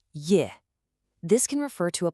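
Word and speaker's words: 叶: The first one you see is pronounced Ye.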